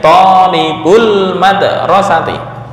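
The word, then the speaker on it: طالبو المدرسة: Ini menjadi talibuna al-madrasati, nunnya dibuang talibu al-madrasati. Bacanya talibul madrasati.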